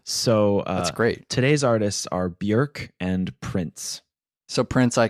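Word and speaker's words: Björk: rally behind me in saying that it's not pronounced Bjork oh really it's pronounced Bjork Wow my whole world has been turned upside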